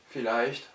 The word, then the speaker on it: vielleicht: F comme en français, mais avec un V qui en allemand se prononce toujours V, et ces mots-là sont alors prononcés F alors qu'ils sont orthographiés avec V.